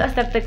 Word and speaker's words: Astarte: Creo que ya les dije que mi nombre es Astarte con Z y acento en la E.